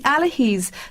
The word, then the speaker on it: Allihies: i was trying i was here trying to pronounce myself it's the allahis to bon mahan miners trail that's correct so